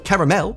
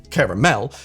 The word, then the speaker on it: caramel: The British pronunciation caramel is one that I use every once in a while to try and blend in so that nobody kicks up a fuss. But what I only just realized in the past few months is that this pronunciation caramel actually carries through to the verb form as well, caramelize, which just really hurts to say.